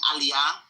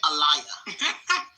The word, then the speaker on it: aliyah: there are certain words everybody knows how to pronounce. So instead of saying aliyah, which is, you know, the naturalization process in Israel, she kept saying, uh, what did she say? Allayia.